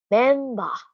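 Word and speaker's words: メンバー: So, ang member ay nagiging memba sa Japanese. Memba yung labas. Kasi sinusubukan nilang bigyan ng pinakamalapit na sound. Okay, so yung ber ay nagiging ba sa pronunciation ng Nihongo. Memba.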